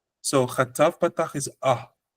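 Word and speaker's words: חטף פתח: Sometimes some people pronounce it almost like an O, but it's actually an A sound. But it's a shorter A sound.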